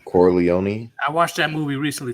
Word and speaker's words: Corleone: forgot to say his name corleone i watched that movie recently too core leone okay corleone vito said women and children can't be careless